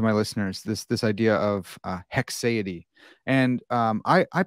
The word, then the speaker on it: haecceity: So it's a Haecceity. It's not that hard. It's close. Maybe I'm, but at least I'm not saying Haecceity, right?